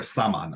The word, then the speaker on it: shaman: It came to the English language actually from Russian Siberia, from one of the tribes there that uses the word shaman, or saman as it's pronounced.